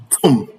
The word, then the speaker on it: tomb: The B in all of these words are not pronounced.